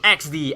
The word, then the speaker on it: Eksdi: Equalizer versus Team Eksdi, if I pronounce it correctly. Eksdi. XD. Okay, XD.